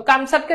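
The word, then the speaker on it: কামচাটকা: তো কামছাটকা কি? কামসাকা হচ্ছে প্রকৃত উচ্চারণ হচ্ছে কামছাটকা।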